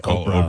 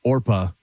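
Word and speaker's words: Orpah: to Oprah because uh mispronunciation by others when she as she was growing up so people would see it and say Oprah. Oprah. She was like might as well go with it instead of Orpa.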